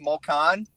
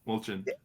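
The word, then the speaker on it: Molčan: Although the guy he's playing is pronounced Molchan. Molchan.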